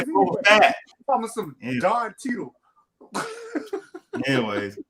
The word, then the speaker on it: Fett: But I want to say Fat. It's Fett. I want to say Boba Fett.